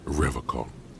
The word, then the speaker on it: Revocol: He pronounces Revocol with a hard K, Okay.